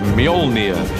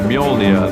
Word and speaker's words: Mjolnir: the hammer is to work out how to pronounce it um which is mjolnir uh in our movie at the moment until somebody corrects me i'm sure they will uh mjolnir the hammer is an awesome weapon for thor